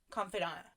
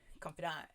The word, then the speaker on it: confidant: Confidant. Yeah, that's how you say it. Confidant.